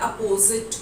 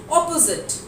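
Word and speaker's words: opposite: The correct pronunciation for the word अपोजिट will be ऑपोजिट।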